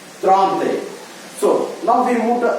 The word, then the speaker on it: trente: So, here, En, we are pronouncing it as R. Trente.